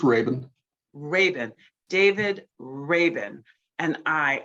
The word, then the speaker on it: Rabin: we so appreciate it both my guests David Rabin did I pronounce that correctly David it's Raven Raven David Raven and I are delighted that